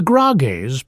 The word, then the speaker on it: Grágás: The Grágás, pronounced Grá-gás, is Iceland's earliest surviving legal code.